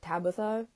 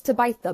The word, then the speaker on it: Tabitha: I know you're thinking isn't it Tabatha no I don't know why it's pronounced like that either it should be Tabitha but it's to bite the brown uh no it's